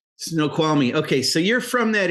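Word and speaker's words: Snoqualmie: it was a little but it's F yeah snow kwami it's one of those other Indian names that's right snow kwami okay so you're from that area I don't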